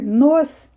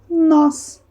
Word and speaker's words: nós: no ó tá então esse acentinho em vez de eu ler nos Eu leio nós então quantos nós a